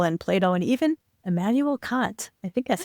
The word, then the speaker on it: Kant: I think he brings up Aristotle and Plato and even Immanuel Kant.